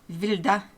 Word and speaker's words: Wilde: It's German, and they pronounce W's as a V, so it's Wilde, and the E's is a, so it's Wilde.